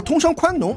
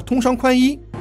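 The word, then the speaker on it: 通商宽农: 女教育，把通商宽农读成了通商宽衣，清官易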